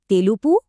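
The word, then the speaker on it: తెలుపు: इसे कहते हैं तेलुबु। इसका उच्चारण है तेलुपु।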